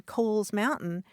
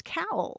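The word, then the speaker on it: Cowles Mountain: San Diego even that I hike on Kohl's Mountain they correct me and say oh no it's cowl C wle so my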